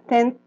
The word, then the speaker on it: tent: Acá, tent. Es con una T al final, ¿ya?